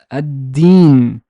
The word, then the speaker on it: الدين: Here, the lam is not pronounced because there's a shadda. So الدين, الدين, الدين.